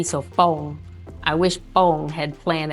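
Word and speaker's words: Pong: and we live in a a subdist called Fong. It's spelled P O N G, but it's actually a BP P. So foam, I wish foam had planned that out and put shade around the fitness equipment.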